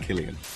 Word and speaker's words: Killian: It's an Irish name. It's an old Irish name. I think, like most Irish names, they were saints originally, and it's pronounced Killian.